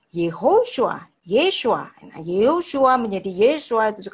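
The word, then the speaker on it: ישוע: mestinya Yahudi dong, nah, dia menyebut nama Yesus itu bukan Yeshua tapi Yahshua. Nah, ini juga bukan pakemnya orang Yahudi. Berarti dia adalah bukan Yahudi benar gitu kan? Karena dia membacanya Yahshua, karena Yahshua itu Yahweh, Yahshua itu bukan bahasa Ibrani. Ya. Dan itu bukan cara pengucapan nama Yesus yang benar.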